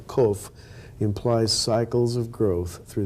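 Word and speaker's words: קוף: explain how the letter Kof implies cycles of growth through the history of humanity. Now, Kof can also be pronounced Kof with a long O. And that's the Hebrew word for monkey.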